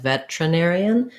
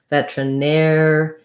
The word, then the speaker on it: veterinarian: But we tend to, again, reduce this word and say it more like veterinarian, which means we do the T sound. So it sounds like vetra, and then our stress is on the air syllable. So even though we have an ER here, it's just like the word where, we need that air diphthong. Veterinarian. Not much vowel before that N.